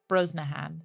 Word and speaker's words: Brosnahan: Corin sweat Rachel broen is BR bro brahan Brosnahan not brosen I was thinking oh